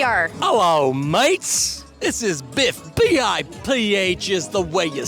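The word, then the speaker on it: Biph: This is Biff. B-I-P-H is the way you spell it.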